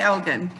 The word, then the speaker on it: Elgin: want to say Elgin, this Elgin, nee, it's Elgin. Yeah, we say Elgin, yeah.